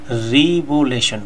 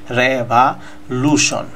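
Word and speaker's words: revolution: কিন্তু আমরা অনেক সময় বলে থাকি রিবুলেশন বলে থাকি, এটাও আসলে এই উচ্চারণ করবেন না, আপনারা উচ্চারণটা করবেন রেভা, রেভা। এই যে উপরে যে দাগ দিছি এর মানে হচ্ছে আপনারা স্টেজ দিবেন, জোর দিবেন, রেভা, রেভা লুশন, লুশন,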